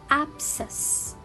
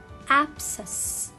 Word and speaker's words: abscess: silent c number one abscess abscess here i will not read letter c i will cut it